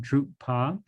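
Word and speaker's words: གྲུབ་པ: have drew par show drupa is the word here it's a two-syllable word drupa and the raw is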